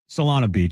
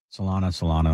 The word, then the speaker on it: Solana Beach: From Solano Beach. There's Solana. Now, Solana Beach, sorry. Solano.